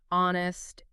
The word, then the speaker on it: honest: Besides words where it's always silent in American English like hour, honest, air, and often herb h frequently vanishes in